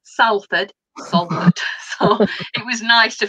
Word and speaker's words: Salford: there and i've got it's salford it's not salford so it was nice